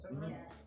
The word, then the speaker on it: Saint Laurent: Saint Laurent, is that how it's pronounced? Saint Laurent?